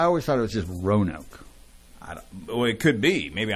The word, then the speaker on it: Roanoke: I just ran Oak there's an A in there row and Oak Rowan Oak it's like row row